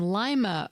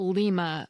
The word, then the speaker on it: Lima: The term Mad Money first appeared in an Ohio newspaper in Lima, Ohio, not Lima, Ohio. Thanks to everyone who called or wrote, and my apologies to the people of Lima.